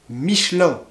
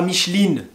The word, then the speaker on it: Michelin: fait avec du caoutchouc michelin a pas micheline michelin bon ensuite on